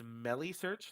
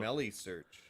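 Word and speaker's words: Meilisearch: Gavin in the chat is telling us it's Melissearch, like smelly. Oh, so Melissearch.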